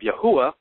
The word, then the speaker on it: Yahweh: have uh lend itself to the interpretation of Yahweh that's the one I'm currently convinced of but